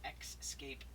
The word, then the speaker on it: X-Scape: Now, I'm not mispronouncing the word escape. It is an X-scape match. X-S-C-A-P-E, X-scape match for the X Division